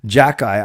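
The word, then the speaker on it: Xhekaj: his name right actually I learned how to say it from Kaya watching her stream Jack guy I don't know how you get Jack guy from x h e k a j if I was to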